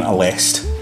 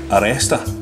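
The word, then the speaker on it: Aleste: Well, see, I used to call this game a list, right? I've called it a list. But I believe it's pronounced Aresta. That's how you're meant to say it. This is Aresta Collection.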